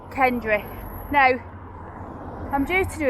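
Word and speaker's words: Kendray: Spelt Kendry, but pronounced Kendry.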